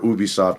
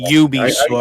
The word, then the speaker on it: Ubisoft: I always say Ubisoft. I get it, Crystal. I get Ubi. Pronunciation. I'm with Don. Ubisoft. I say Ubi. Some say Ubi. I've said Ubi my whole existence, so Ubi sounds inappropriate, bro.